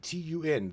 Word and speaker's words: tun: it, refer to the backtun, b a k t u n. The backtun is number 13. Then we've got what's called the katun, which is spelled k a t u n and that is the number zero.